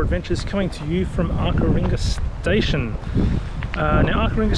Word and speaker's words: Arckaringa: pass and turn off to arar ringa station as how it's pronounced and you drive about